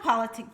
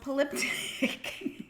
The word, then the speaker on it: polyptych: Not politic, polyptych.